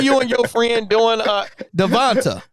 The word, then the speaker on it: DeVonta: See, this is like y'all thinking you and your friend doing Devonta.